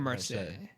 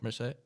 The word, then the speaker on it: Marseille: I was thinking Marseille. Am I pronouncing it right, Mr. Frenchman? Marse. Yeah. Marseille.